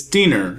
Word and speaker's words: Diener: Remember, kids, it's Diener. It rhymes with wiener.